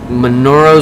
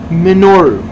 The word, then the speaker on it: Minoru: you haven't you have manoro Suzuki takes on mono Suzuki I can't say his name bro you say it Manu okay say it manoro minoru minoru Min Oru he's